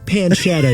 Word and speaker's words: pancetta: bacon bits they were pancetta give me some respect over it's pronounced Pan shadow Jack we had Adam